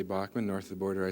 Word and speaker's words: Bachman: Randy Bachman and I was brainwashed to say Backman because I used to say Bachman now what